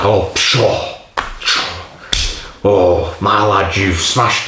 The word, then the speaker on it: Pschorr: And it's called Pschorr. Pschorr. I don't know if you pronounce the P, but I'm going to pronounce it.